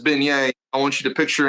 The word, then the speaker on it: beignets: So I want to go a little bit deeper into the beignets.